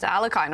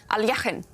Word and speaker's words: Alekhine: And so much fun to listen to your stories about Alekhine, or Alekhine. which I guess is the right pronunciation in Russian.